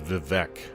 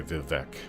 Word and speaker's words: Vivec: Yes, most Dunmer pronounce it as Vivec. I've always just said Vivec, but I am fully aware that most people say Vivec.